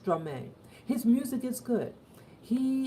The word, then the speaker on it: Stromae: It's pronounced Stromae.